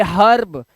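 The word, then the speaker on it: herb: ये ई का उच्चारण आ हो गया हमारा, क्योंकि आर आया है ना बाबू लास्ट में, इसलिए ई के बाद आर आएगा तो लफड़ा होगा होगा।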